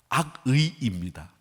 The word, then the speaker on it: 악의: 이제 발음이 잘 안 되죠. 악의를 갖고 있다는 것처럼 들릴 수 있는데 악의입니다. 왜 이 의 발음을 잘 못하는 쪽 사람이지 않습니까, 제가. 그래서 그 의 발음이 이 발음이 되게 하는데 악의입니다.